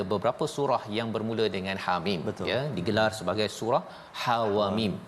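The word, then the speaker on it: حم: Jadi Hamim ini cara baca dia iaitu ha itu tak ada harakat, mana ha baris atas ha jangan panjangkan, jangan ha jangan panjang, ha tak ada harakat itu, Hamim, ha terus.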